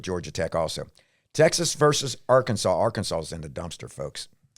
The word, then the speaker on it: Arkansas: Do we know why it's not our Kansas?